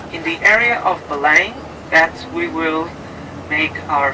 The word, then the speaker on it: Belém: B-E-L-E-M. Belém, we pronounce it.